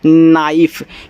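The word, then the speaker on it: knife: के एन आई एफ ई। तो यहां के तो आपका साइलेंट रहेगा क्योंकि के बाद आपका एन दिया है तो इसको पढ़ते हैं नाइफ क्योंकि आई एफ ई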